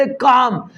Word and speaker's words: calm: कहता chips remained काम, chips remained काम, चिप्स रिमेन्ड काम, CALM, CALM, जो L है वो साइलेंट है।